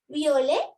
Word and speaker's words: violet: Because violet, this t is silent, but here the t is in the middle.